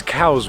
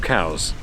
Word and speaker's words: Cowes: be especially expensive at the moment because it's Cows Week.